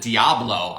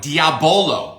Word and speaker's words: Diabolo: So the bad thing with this, I called it Diablo. I was like, devil drink? I'm not drinking that, And it's Diabolo, which means... Oh, I did say it right.